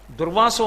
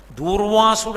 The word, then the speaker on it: దుర్వాసో: మీరు కొంచెం జాగ్రత్తగా చూస్తే దుర్వాసుడు అంటారు తప్పు అసలు అది ఉచ్చారణ దోషం దుర్వాసో మహర్షి ఆయన పేరు దుర్వాసో మహర్షి క్రోధ భట్టారక అందుకే ఆర్య